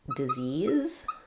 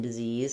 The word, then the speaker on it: disease: Um, so we have a question about the word how to pronounce disease. Um, so we have two Z sounds in disease and the stress is on the second syllable Z's.